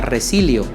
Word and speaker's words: resilio: La palabra resiliencia viene derivada de un verbo latino que se pronuncia resilio, que significa volver al estado habitual, retornar a un estado conveniente.